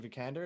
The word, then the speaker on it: Vikander: I love that both Michael Fassbender and is it Alicia Vikander?